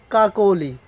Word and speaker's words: কাকলি: উদাহরণ দিই, তাহলে যেমন কাকলি, ক আকার ক ল রসইকার, এটা হচ্ছে বানান। ঠিক উচ্চারণের ক্ষেত্রে এটা হবে ক আকার ক ওকার ল রসইকার, কা কো লি।